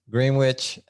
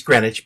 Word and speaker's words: Greenwich: phipps realty in east greenwich uh rhode island and i probably didn't pronounce that exactly right did i right that's okay he's greenwich but it's good yeah that's